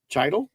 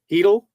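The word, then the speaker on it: Chytil: Canucks forward Philip Chidle Heel out in Heedle. How do you get Oh, I guess the C is silent.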